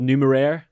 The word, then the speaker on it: Numeraire: say nmr it is it is technically called numero numero i like it yeah but uh and more simple nmr numero okay so and you